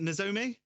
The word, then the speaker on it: Nozomi: How do you pronounce it first off? Is it Nozomi? Yes.